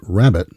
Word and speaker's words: rabbet: common cut called a rabbet. Although this word is pronounced rabbit, like the animal, it's actually spelled.